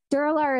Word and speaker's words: Duralar: Duralar is spelled D-U-R-A-L-A-R.